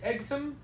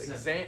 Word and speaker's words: exam: also I would say you could say exom uh that sounds like you're saying exit like that going away but it's exam yes second syllable there you go ex okay